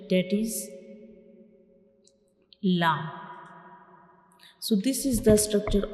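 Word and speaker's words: ل: So when we pronounce lam, the tip of the tongue will touch the gums behind the upper front teeth. When we pronounce lam, we will touch the tip of the tongue to the gums behind the upper front teeth, like lam, lam.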